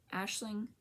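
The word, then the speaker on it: Aisling: Farms the yarn CAD is Ashling Yarns but but it's a i s l i n g so I don't think my hands going the right way but that's that's how you say it and how you spell it um what else have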